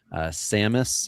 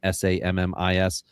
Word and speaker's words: Sammis: Sammis, I believe is the correct pronunciation, Sammis, in the 12th round